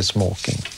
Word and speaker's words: smoking: Ja, det traditionella svenska uttalet som fortfarande gäller är smoking.